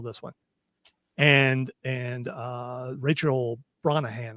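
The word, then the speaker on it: Rachel Brosnahan: And and uh Rachel Bronahan, I think is how you say her last name.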